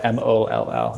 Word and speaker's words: Mall: Sounds like A, pronounced O, MOLL.